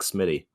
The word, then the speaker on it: SMII7Y: it's not spelled like Smitty. I don't know why that is. Well, the interesting thing is it's 2 I's, right? Yeah. No T, but a 7, and it's Smitty.